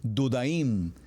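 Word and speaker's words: דודאים: muy interesante dijimos que su pronunciación en hebreo es dudaim y se escribe Dale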